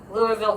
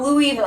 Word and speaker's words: Louisville: and people talked about Louisville Kentucky it's not Louis it's not Louisville it's Louisville it's Louisville it DED